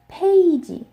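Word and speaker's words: 페이지: Similar to I, this word page, it's one syllable in Korean, in English, and it has a diphthong. The diphthong is A. So it's a combination of E plus I, makes A. And they don't have that sound.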